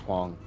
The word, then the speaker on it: Huang: I think it would be pronounced Huang.